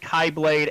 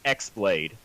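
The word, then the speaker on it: χ-blade: pronunciation of you know i actually say it all three ways i say keyblade kai blade and x blade and god there he even says that it's in the game it's the letter x blade z master xehanort says he the oldest letter some pronounce it kai and then they never really bring it up again and then they say keyblade but it's with an x so for the sake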